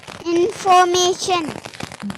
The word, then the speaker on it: information: Information.